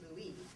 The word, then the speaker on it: Louis: came on the weekend her husband Louis pronounced Louie appear from some fascinating